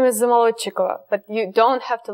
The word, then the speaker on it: Zamolodchikova: Well, my last name is Zamolodchikova, but you don't have to learn that last name.